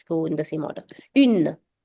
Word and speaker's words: une: Now, make sure you pay attention to this because it's very common for people to mistake the pronunciation between these two. People have a tendency of saying une with this, but no, this is un, and the feminine version of the article is pronounced as une.